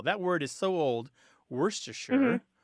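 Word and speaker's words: Worcestershire: word is so old worst to sure is how you say it more or less that word is so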